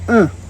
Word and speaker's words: un: is UN n pronounced uh sounds like I'm grunting two is Du sounds